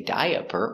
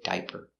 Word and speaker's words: diaper: next word is diaper again we have a silent a we don't say diaper we say diaper diaper I need to